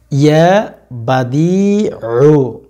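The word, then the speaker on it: يا بديع: আল্লাহ পাক রব্বুল আলামিনের গুণবাচক নামটি হচ্ছে ইয়া বাদিউ। ঠিক আছে, আইন একটু ভেতর থেকে উচ্চারণ করতে হবে, ইয়া বাদিউ, ইয়া বাদিউ, ইয়া বাদিউ, ইয়া বাদিউ।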